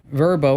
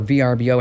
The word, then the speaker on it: VRBO: in bedrooms and bathrooms now verbo or VRBO however you want to pronounce it uh they say